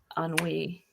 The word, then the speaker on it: ennui: Put your party hat on, because it's ennui. It's what? Ennui. Ennui. Ennui. How do we spell that?